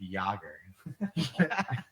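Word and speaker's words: Jagr: I should have gone with Yager. Yogger.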